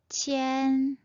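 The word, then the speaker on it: 千: 1000은 첸, 첸, 첸. 만은 완, 완, 완. 우리말과 굉장히 비슷하죠? 다시 한번 두 번씩 읽어볼게요. 빠이, 빠이, 첸, 첸, 완, 완.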